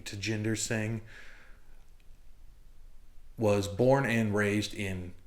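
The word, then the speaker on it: Tjinder Singh: want to just say Ginder but I listened to him say it and he did pronounce the T at the beginning to Jinder sing was born and raised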